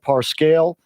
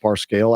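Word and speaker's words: Parscale: Trump date dinner calm Brad parse kale or I think it's pronounced bar scale I've heard it pronounced a couple other ways but anyways Brad is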